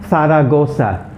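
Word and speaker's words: Zaragoza: as a vegetable okay the last one is sara gosa saragosa is a city in spain okay faragosa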